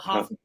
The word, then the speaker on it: Hafenbredl: I say my grandma always said like hop, like long O, Hafenbredl. Like more of a German Hafenbredl.